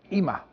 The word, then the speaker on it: Yma: IMA. Ama YMA diye yazılıyor. IMA diye okunuyor.